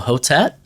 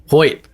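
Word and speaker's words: Hoecht: How do you pronounce it? Michael Hotet? Hoyt. Is it Hoyt? Oh my gosh, it's that easy? I've always heard Hoyt. Yep. Okay. Like Hoit.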